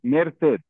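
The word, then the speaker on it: merced: कापास मतलब capacity okay मेर से कितने सिलेबस हैं मेर and Syed very good to syllabus मेर से टू सिलेबस से पर है से बोला जाएगा मेर से पर से होगा ओके मेर से या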